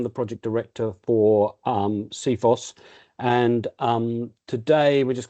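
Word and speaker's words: CFIHOS: specific Handover specification and we like to pronounce it seos and our purpose is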